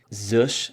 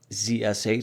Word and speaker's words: zsh: that default Cali Linux uses the zush shell or the zsh shell depending on how you pronounce that but when I created